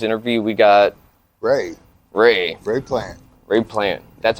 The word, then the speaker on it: Plante: we got Ray Ray plant raid plan that's how you pronounce that yeah I always thought it was like plantain no it's French Canadian oh okay my dad